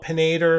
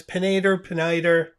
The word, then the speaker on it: Peniter: Moments of Zen with the Twin Tank Touchdown pen by Peniter, which I probably call Penator a few times. Peniter.